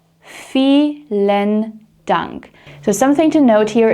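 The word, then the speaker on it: vielen Dank: an h sound or felen dunk. Fen dunk. So, something to note here is that the V in German is very often pronounced like an F sound unless we're talking about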